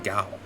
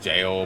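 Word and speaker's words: gaol: as one rots in Gao. Yeah, I think it's also pronounced jail, but I've heard it pronounced the other way too.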